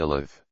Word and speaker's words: Elath: In 2 Kings chapter 16 verse 6 it mentioned that the Jews were expelled from I Lat which was sometimes pronounced Elath and Elith.